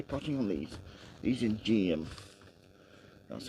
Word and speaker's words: Geum: going to be putting on these these in GM that's how you pronounce it I'll just get the close one